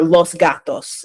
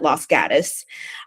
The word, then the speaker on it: Los Gatos: Uh, or Los Gatos is how you would pronounce it in Spanish, but everybody there calls it Los Gatus.